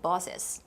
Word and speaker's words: boss's: Even if you don't see it written the extra S sometimes, if there's an apostrophe like that after an S, then you need to say the S's in a lot of cases.